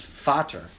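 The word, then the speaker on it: Vater: its first of all it's not pronounced Vader it's pronounced fater in German sounds nothing like it it spelled the same but it's not the same so like shut up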